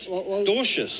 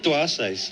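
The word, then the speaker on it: Dwarshuis: I I It's the W silent, isn't it? Dorschious.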